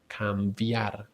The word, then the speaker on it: cambiar: But here the B is soft, as if you are pronouncing kind of a V sound. Cambiar, cambiar, cambiar. See, there is not that strong like puff of air, just cambiar, cambiar, because the B goes after an M.